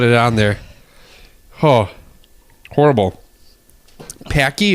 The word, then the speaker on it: Paqui: on there Oh horrible packy is that how you pronounce it I think it rhymes with hockey hockey hockey okay so